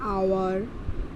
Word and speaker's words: hour: Honest, आवर एंड ऑनर. Okay, because when spoken these words begin with the vowel sound O, as the letter H is silent in them.